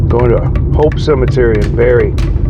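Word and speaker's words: Barre: Going to Hope Cemetery in Barry. Barry, Vermont. Yeah. B A R R E. That's how you pronounce it. Barry.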